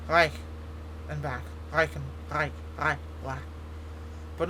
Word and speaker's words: Reichenbach: It's not like Reichenbach. It's Reich and back.